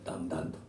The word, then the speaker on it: DANG DANG: でダングダングと書いて、ダンダンという歌を、秋山